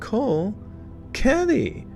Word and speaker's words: Kolkheti: The word Kolkheti, an ancient region and now is western Georgia, is pronounced Kolkheti, with the KH sound like the guttural ch, and the German word Bach, or the Scottish word Loch.